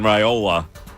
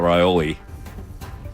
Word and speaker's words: Raiola: Dylan Raiola, not Raioli. Raioli. The way he pronounced it, I was like, did I have it wrong the entire time? Raioli, I think, is a pasta.